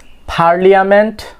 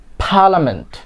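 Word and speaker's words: parliament: পার্লিয়ামেন্ট, নো, এটা কি হবে? পার্লামেন্ট। অনেকে আমরা না জানার কারণে কি বলে থাকি? পার্লিয়ামেন্ট অথবা কিছু একটা আমরা বলি পার্লিয়ামেন্ট। তো এটার কারেক্ট প্রনাউন্সিয়েশন ইজ পার্লামেন্ট।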